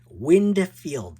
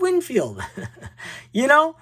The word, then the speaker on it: Winfield: When I was a kid, when I was an adult, before YouTube, I always call him Winfield, like Windfield. This is Dave Winfield.